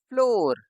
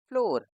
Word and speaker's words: floor: इसमें double O ओ की तरह है, ये हुआ फ्लोर, FLOOR, फ्लोर, FLOCK, फ्लॉक।